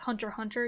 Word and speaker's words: Hunter x Hunter: It's like Hunter x Hunter. You don't pronounce the X.